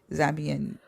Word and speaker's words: Zambian: And she was telling him about a young Zambian.